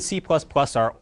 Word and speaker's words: C#: C and C++ are older-ish languages, still in very wide use today. C# down there, C with a little hashtag, you pronounce it C#, like a sharp sign in music.